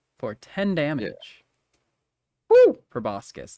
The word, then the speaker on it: proboscis: Great Sand worms uh probuscus for 10 damage proboscis that's how you say it oh no it was